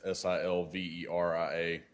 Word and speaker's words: Silveria: It's Silveria.